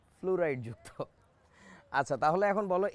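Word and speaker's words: fluoride: তোমাদের যাদের আমার কথা বিশ্বাস হচ্ছে না যে এটার উচ্চারণটা কি ফ্লোরাইড নাকি ফ্লুরাইড, তোমরা একটা কাজ করো, পেপসোডেন্ট নামে একটা টুথপেস্ট আছে, পেপসোডেন্টের অ্যাডভার্টাইজমেন্ট যখন টিভিতে দিবে, বিজ্ঞাপন যখন দেয়, তখনও দেখবে ফ্লুরাইড যুক্ত বলে, নট ফ্লোরাইড যুক্ত, ফ্লুরাইড যুক্ত।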